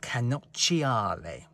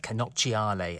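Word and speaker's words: cannocchiale: they alpha calls it canochiale how do you like my italian pronunciation if any italians are watching this feel free to tell me offer my pronunciation but i think that's how it's pronounced canochiale and the literal translation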